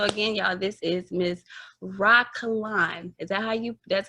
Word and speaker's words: Rah Kalon: So again, y'all, this is Miss Rah Kalon. Is that that's how you pronounce it?